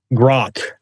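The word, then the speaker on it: Grok: Grock is is the pronunciation. Grock. Grock. Grock. There's no N.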